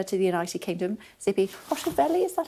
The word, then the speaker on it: Hotovely: Joining us now is the Israeli ambassador to the United Kingdom, Tzipi Hotovely. Is that how I pronounce yes.